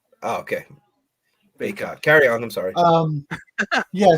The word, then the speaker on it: Bacot: Did you say his name was Bacot? No, Bacot. No, I'm not trying to make fun. Like I actually. No, yeah, it's bacon without the N. It's just a T. Oh, okay. Bacot.